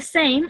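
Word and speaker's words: ث: So I said, like in English, we have the letters thick and thin, like just like that. That sound th.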